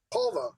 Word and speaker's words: Polvo: Can we talk a little bit about, is it Polvo? Am I saying it right? Polvo, yeah.